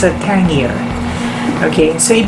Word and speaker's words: Tangier: you know word nathon with a capital t and pronunciation is tangier okay so anything called